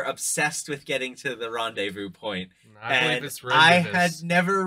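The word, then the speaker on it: rendezvous: tale they were obsessed with getting to the Rondevu point and I had never read that word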